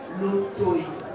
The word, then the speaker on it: Lotoy: J'appelle le professeur Lotoy. J'ai bien prononcé? Exactement, vous avez très bien prononcé.